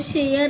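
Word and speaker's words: share: तो शेयर ए नहीं बोलते ना शेयर या शेयर क्या बोला जाता है शेयर ई साइलेंट हो गया कमेंट बॉक्स में आप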